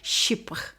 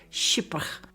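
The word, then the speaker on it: chypre: In 1905, Cody introduced perfume to the masses and created the first commercial ship fragrance for mass production called Lori Jang Doti.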